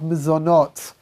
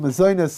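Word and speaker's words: mezonot: after we've made hamoiti is the bracha of mizonot right what's called mazonus in ashkenazi pronunciation what is miss or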